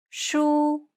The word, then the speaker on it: 书: The first tone is the high tone. It's marked with a horizontal line above the letter. It sounds like this. 书 It's pronounced high and steady, and the pitch should be kept at the highest range that's comfortable for you.